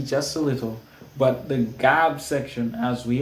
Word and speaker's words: GAB: G, A, B for gab. If you like to pronounce it differently, you could say Gabe.